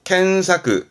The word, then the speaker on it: 検索: 발음은 소사크, 소사크. 그렇죠. 했었죠? 검자입니다. 검색이요. 켄사크, 켄사크.